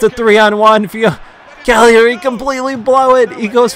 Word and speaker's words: Cagliari: either, but it's not Cagliari. It's not Cagliari, so please stop saying that. It hurts my ears. It's at least say the GL is silent in Italian.